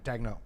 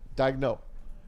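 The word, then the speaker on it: Daigneault: Is that how you pronounce his name? Yeah, Dagno. Dagno.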